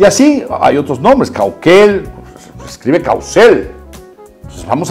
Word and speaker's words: Caucel: Y así hay otros nombres, Cauquel, se escribe Caucel.